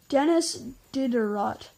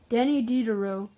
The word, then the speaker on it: Denis Diderot: sum up part of the Enlightenment impressive range Denis Diderot yeah oh no it's actually pronounced Denny deed do Diderot Danny Diderot 1713 to 1784 figure 17.5 was a multifaceted